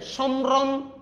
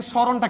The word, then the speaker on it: স্মরণ: মটার একবার উচ্চারণ হইছে সম্রন এরকম বলছি না এবার আমি দেখেন সরণটা কিভাবে লিখছি সরণ আচ্ছা এখন মুদধন আছে